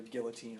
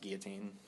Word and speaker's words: guillotine: We have it on either guillotine or poison at this point. Yeah. Also, it's pronounced guillotine.